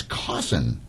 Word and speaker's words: Cawson: Um Kate Island and Cawson. At least did I pronounce that correctly? You did. It's like Clawson without the L.